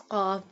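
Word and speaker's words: ق: First one is qaf. This qaf pronounced boldly. Qaf pronounced from the root of the tongue touching the soft part of the palate.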